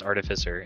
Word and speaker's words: artificer: artificer uh which is apparently how you're supposed to pronounce artificer as artificer um i will probably